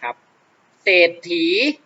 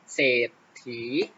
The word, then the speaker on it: เศรษฐี: ออก เสียง นะ ครับ จะ ออก เสียง เฉพาะ พยัญชนะ ตัว หน้า ไม่ ออก เสียง ตัว รอ นะ ครับ จะ ออก